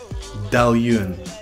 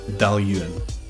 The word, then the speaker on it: Dailuaine: Dailuaine. Fantastic Speyside distillery. Fantastic whiskey. Dailuaine. Edradour. Now, some people add an extra syllable in here at the end and they say Edradour.